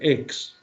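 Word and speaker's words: ἐκ: De hecho, el que solo aparezca ek, aunque se pronuncie ex, porque la palabra siguiente viene por vocal, ex, anactasis, ek, necrón, esta es una expresión que solo sale aquí.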